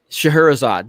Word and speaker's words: Scheherazade: e a d e Scheherazade Scheherazade that is how you say it yeah that's likely when